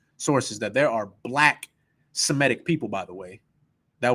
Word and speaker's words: Semitic: So me, you, and your father, We're Shemitic. We're Semitic now. That's how they say it now.